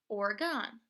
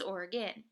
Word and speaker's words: Oregon: with the words too for example Oregon the state just south of Washington it often went miss pronunciate it as Oregon but if you go to the west post and you say Oregon you might get yelled at because it is Oregon so when you're teaching